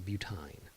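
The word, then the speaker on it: butyne: in Y in E, and they're pronounced ein. So this right here, B but 1 ine. It's a butine.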